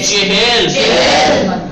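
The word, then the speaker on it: چهل: چہل بھلے چہل اب دہائیوں کے نام پروناؤنسیشن یعنی تلفظ بالکل صحیح ہونا چاہیے. دہ 20 سی چہل 4 مت کہیے گا چال مت کہیے گا.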